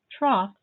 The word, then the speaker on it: trough: roof to catch rain trough rhymes with cough what about plow plow